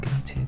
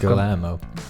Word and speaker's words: Guillermo: Gamete, how do you pronounce his name? Gamete del Toro. Guillermo del Toro. Yeah, how's his first name pronounced? Guillermo.